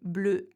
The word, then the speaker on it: bleuet: Now, sometimes, however, when the word ends with an et, it has more of a e sound.